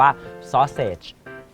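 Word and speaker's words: sausage: ไหมม ครับ ไส้ กรอก ภาษา อังกฤษ เขา อ่าน ว่า ซอเซจ จ s a u s a g e ซอเซจ แปล ว่า ไส้ กรอก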